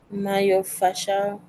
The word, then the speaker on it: myofascial: days um okay but the word my fasel has three syllables okay oh it has four yeah it does myof fasal okay how would you say it may fasal may fasal good okay still four syllables okay so Mayo is